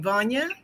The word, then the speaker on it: Vana: what uh uh Dr how do you say your name Vana van like Kanye okay and that's what